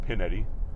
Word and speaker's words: Pignetti: on there use code pignetti it's pronounced pinetti but you guys will forget to put the G in there so p i g